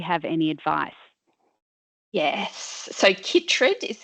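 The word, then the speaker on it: chytrid: not going to pronounce this right but um chrid fungus affecting our growling grass frog populations do you have any advice yes so kitd is how that's pronounced wh that's okay a lot of people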